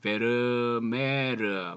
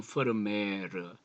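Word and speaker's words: Vermeer: 여러분이 잘 아는 렘브란트를 비롯하여 진주 귀걸이를 한 소녀 하면 델프트의 화가 요하네스 프르미어, 이 베르메르 뭐 이렇게 하면 이제 영어식의 발음이고요. 퍼르미어 혹은 퍼르메이르 이게 조금 그렇습니다.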